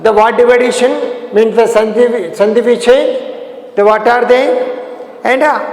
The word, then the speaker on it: संधि: Samdhi, but as pronunciation sandhi.